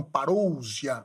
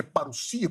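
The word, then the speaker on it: παρουσία: Ele disse que a o termo paruia, alguns falam parousia, mas é paruia, porque nós temos ôic e y, que é um ditongo, que pronuncia isso como u. E o sigma não tem som de zgo, é som de s.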